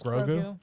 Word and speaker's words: Grogu: It's 2 syllables though, kind of like Yoda. I Grogu.